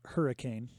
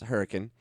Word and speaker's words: Hurricane: don't live in utah it's pronounced hurricane it's hurricane and um i've been